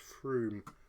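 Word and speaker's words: Frome: That's actually pronounced Froome.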